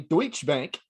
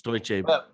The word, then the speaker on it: Deutsche Bank: Recently, Deutschbank. Deutschbank. Is that right? Am I saying it right? I It's close enough, man. It's Deutsche Bank.